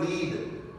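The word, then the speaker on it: lead: काम को फिनिश करें तीसरा word लीड एल ई ए डी लीड spelling जो है देखें आई am going to लीड this team I am going to लीड this team और दूसरा वर्ड जो है एल ई लीड इसको हम लेड पढ़ते हैं शीसा सो वी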